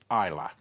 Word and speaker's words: Islay: the island of Islay, or as the Scots like to pronounce it, Islay.